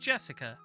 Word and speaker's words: Jessica: kind of weird name anyway is pronounced jessica she's dad's older brother's